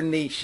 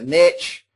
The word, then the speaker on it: niche: Okay, some people call it the niche. It's actually a French term, and I'm not French, but I think it's niche.